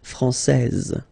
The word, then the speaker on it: française: Okay, so français here, you get this final S that you don't pronounce, so français. And then when you put this final E here, you will get française.